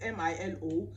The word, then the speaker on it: Milo: Milo is spelled M-I-L-O, but in Nigeria we call it Milo, and in South Africa here we tend to call it Milo.